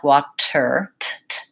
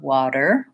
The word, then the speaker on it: water: difference between T's are if I use a true T it would sound like Wachter there'd be a puff of air Americans don't do that they leave that puff out they also turn their voice on so it really sounds like a light little decent water water I want to avoid building up a lot of pressure and really stopping the air water because that will sound won't sound correct so what I want